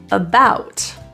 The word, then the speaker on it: about: neutral spot f about the a at the beginning of this word is a schwa that just means it's pronounced as an a quick little uh rather than a or ah about the main issue is